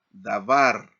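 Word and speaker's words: דָּבָר: Por ejemplo, tenemos aquí esta palabra en hebreo, aquí es dabar. Entonces se enfatiza en la última sílaba.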